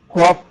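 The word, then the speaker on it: قاف: গইন, তারপরে এটা বলুন কফ, কফ কফ। কফ, এটা কফ, গলার ভেতর থেকে হবে কফ কফ কফ, কফ।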